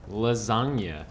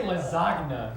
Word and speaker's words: lasagna: more time for everyone lasagna never say that again if you say lazagna you're weird lasagna lasagna lasagna lasagna